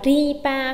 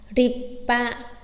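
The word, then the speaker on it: りっぱ: Có đọc là ripa không? Không, đọc là gì ạ? Ripa, ripa. Cảm giác như các bạn làm sao nhỉ? Giữ một phát hơi.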